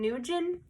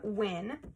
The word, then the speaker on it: Nguyen: I called her Kim Nan. Kim Nugan. They said that usually most people pronounce the name Wyn. So, Kim Wyn, it says her major is a fashion design focus.